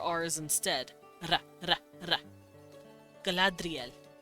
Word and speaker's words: Galadriel: Galadriel is the name of a lovely elvish woman, and that is exactly how you pronounce it. His R's were taps, so ri instead of re.